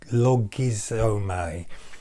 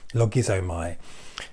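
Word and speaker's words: λογίζομαι: Logizomai, Logizomai, if you're going to spell it out phonetically.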